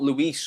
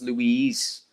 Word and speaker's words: Louise: just told me that it's not luis or it's not it's louise it's louise so louise once again